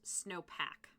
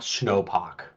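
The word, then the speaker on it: Snopach: And if it's anything like my last name, it's going to be pronounced Snowpack. I mean, that's probably correct. Yeah. 1, it's a pachyderm. Yeah. 2, the snowpack. Yeah. Let me put it this way. It's very clearly not snowpock.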